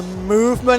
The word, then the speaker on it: MVMT: of the porta spoof we have the movement i think it's pronounced mvmt it's a sub brand